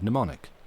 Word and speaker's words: mnemonic: Same Greek root as the word mnemonic. The M is silent.